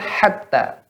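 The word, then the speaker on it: حتى: Kemudian pada kalimat hatta, ya nanti bisa didengar rekamannya, ya. Hatta. Maka di sini ha tipis, ya, jangan dibesarkan ha. Maka ha, hatta.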